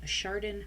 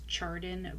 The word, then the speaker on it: Chardon: Lane in the Chardon High School shootings. Now, I had to look up how to pronounce the name of this town in Ohio,